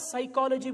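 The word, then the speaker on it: psychology: where you right साइकोलॉजी बट you start साइकोलॉजी with P यू आस्क the English man वही एंड he says piece silent if इट इस silent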